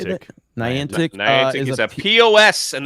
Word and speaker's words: Niantic: Niantic.